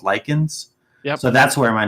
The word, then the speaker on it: Lycan: changed it to just lichen because people were pronouncing my name wrong like daily kin and different stuff like that so basically like in